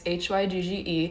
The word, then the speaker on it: Hygge: This is the little book of, it's pronounced Hygge, I believe. I googled it because I was saying it so incorrectly. It's Hygge.